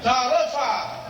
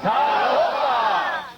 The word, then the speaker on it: Talofa: Talofa! Talofa!